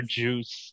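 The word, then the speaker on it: Djoos: is spelled p-e-r and his last name is pronounced this is about sorry d-j-o-o-s so he would like purge for juice that one's great absolutely fantastic and then of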